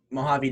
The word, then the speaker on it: Mojave: i think it's yeah it's mojave desert i think it's how it's pronounced from what i've heard